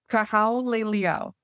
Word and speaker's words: Kahaulelio: How do you pronounce it? Cahal Leo.